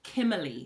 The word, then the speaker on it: Kimberley: Wait, for context, my name is pronounced Kimeli. Oh, yeah, yeah, yeah. Right? That's my name. That's how it's pronounced.